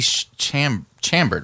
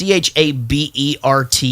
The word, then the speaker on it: Chabert: Lacey, is it Chabert? Was it produced by Chabert, something like that. The girl no, from 30-something? Or? Lacey Chambert, right? Well, there's no M. It's Chabert. Oh, then I don't know how to pronounce it.